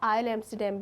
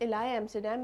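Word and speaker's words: Île Amsterdam: इलाय एम्स्टरडैम या आयल एम्स्टरडैम भी कहा जाता है, बट इलाय एम्स्टरडैम इज़ the much appropriate pronunciation for this.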